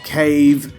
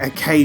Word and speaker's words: Cave: first sentence I say I say don pachi is at cave shoot them up it sounds like a K shoot them up or what is a case shoot them up I don't